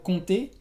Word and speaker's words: compter: Por ejemplo, el verbo compter, que es contar. Sí, contar como 1, 2, 3. La P no se pronuncia.